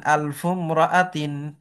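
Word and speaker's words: ألف امرأة: ওই ইমরাআতুন শব্দ কিন্তু এই হামজাটা মাঝখানে হওয়ার কারণে উচ্চারণ হচ্ছে না। ঠিক আছে। এরপরে দেখো আলফু রজুলিন আলফুম রাআতিন।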